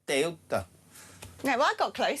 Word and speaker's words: Ceuta: It's not Ceuta, it's this. Ceuta. Ceuta.